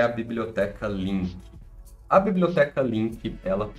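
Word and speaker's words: LINQ: linguagens de programação e eu tô falando link né eu não falei como que se escreve né a link a gente escreve ela assim ó você coloca aqui ó link com q de queijo no final tá aí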